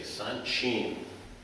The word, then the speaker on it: Sanchin: Especially at the earliest level, which would be green belt, when they're learning Sanchin, I should say Sanchin. Real pronunciation, Sanchin.